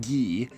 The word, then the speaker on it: Guy: The Italian form is Guido, and naming people Guy, pronounced Guy, is also a lot more common in French-speaking countries.